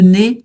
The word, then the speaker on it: nez: Et le nez donc le nez un sans prononcer le Z le nez.